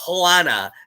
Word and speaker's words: Joanna: the girls is named joanna but in spanish you say you don't say joe the j is spelled like h so she was like joanna and so like it